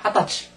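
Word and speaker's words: 二十歳: 읽어야 됩니다 끝에이 저기 스무살은 반드시 핫 핫타 핫타 이렇게 읽어야 됩니다 같이 읽읍시다 하타치 하데스 시 하데스 하면은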